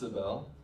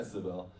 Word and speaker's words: Sibel: So it's pronounced Sibel. Yes. Hi, Sibel.